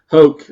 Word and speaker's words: Hoke: Hoke. Rhymes with Coke.